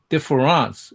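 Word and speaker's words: différance: but he spel he he pronounced it differance in French and that's a very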